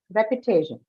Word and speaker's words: repetition: Repetition. Te. Repetition. Te, right? The syllable right before shen, te.